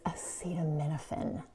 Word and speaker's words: acetaminophen: And one more thing, it's acetaminophen. That's how you say it.